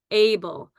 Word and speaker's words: able: word able able a able but it's not just an L we have to have that other letter ending sound with that but there's no sound it's silent able able the next